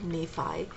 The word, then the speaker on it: Nephi: out what it was he talked about um Nephi that is the proper pronunciation Nephi um writing this story and he writes one